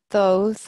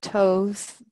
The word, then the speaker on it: Thoth: Yes, well, he's most associated with the Egyptian god, Thoth or Thoth, Jehudi. So there's many different ways of pronouncing his name.